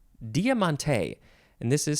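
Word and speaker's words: Diamanté: um a good one the next word is Diamante Diamante and this is spelled d-i-a-m-a-n-t-e and the E has an accent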